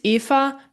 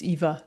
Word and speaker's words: Eva: Yeah, in German it's EA, but English in English it's Eva. So that's absolutely fine.